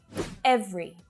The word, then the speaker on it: every: Every. Every. Not every, just 2 syllables.